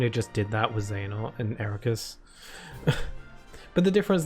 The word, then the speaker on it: Xehanort: When they start pronouncing Xehanort Zehenort and Ericus says Eriquise, then I know something's up.